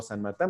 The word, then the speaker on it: Saint Martín: Para que me puedan seguir en redes, en Facebook con mi nombre, San Martín, bueno, se escribe Saint Martín.